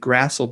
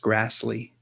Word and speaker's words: Grassle: Back then, I would have said Grassle, but I think it was actually pronounced Grassley, Grassle.